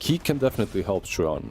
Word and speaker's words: Chuan: Chuan, yes. I mean, I've been pronouncing it the same way for like 5 years now, ever since this guy came into the scene.